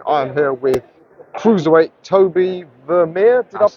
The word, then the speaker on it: Tobie Vermeire: I am here with cruiserweight Tobie Vermeire. Did I That's it.